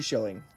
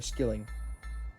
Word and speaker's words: skilling: 1716 Danish and Norwegian 2 shilling, or skilling is the proper way to say it.